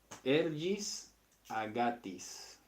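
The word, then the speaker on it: ἔργοις ἀγαθοῖς: palabra ergis agatis ergis esto se pronuncia eh con la g y ergis agatis Okay y resulta que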